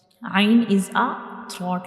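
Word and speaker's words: ع: Ain is a throat letter.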